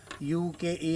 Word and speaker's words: Ukai: इसका नाम थोड़ा अजीब है। मतलब कभी नए लोग सुनते हैं तो उनको समझ में नहीं आता है कि क्या बोल गए। इसलिए मैंने एक स्पेलिंग के साथ बताया यू के ई आई यूकाई डैम है ये।